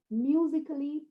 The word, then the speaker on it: musically: to pronounce this yeah do you say logically musically professionally no it's a goes silent a goes quiet it knows when to go quiet okay so where does it